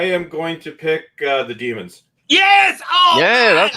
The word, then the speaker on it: Daemons: Is it Daemons or is it Demons? I would have to say demons.